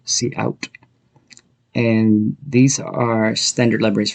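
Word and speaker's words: cout: in the example before the input and output from the standard libraries are pronounced c in and c out and these are standard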